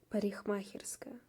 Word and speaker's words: парикмахерская: So you don't pronounce the letter K. Парикмахерская. So as you can hear, K becomes more like H.